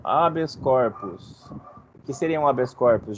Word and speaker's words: habeas corpus: compartimento O que é habeas corpus se pronuncia assim mesmo habeas corpus que seria um habeas